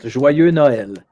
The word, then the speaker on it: Joyeux Noël: I think Joyeux Noel. Yeah, that's about as good as you could pronounce it. Joyeux Noël.